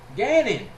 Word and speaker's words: Gannon: what was his name rhymes with Canon Gannon rich rich can't Rich Gannon Rich Gannon the five